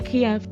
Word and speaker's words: Kiev: Kiev and yes guys I say Kiev because I'm British and that's the way we say it every week somebody says